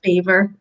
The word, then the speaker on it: Belvoir: So the first topic is going to be Belvoir Park Hospital. I don't know if I'm saying it right. You are saying it right. It's spelled Belvoir, Belvoir, but it's pronounced Beaver.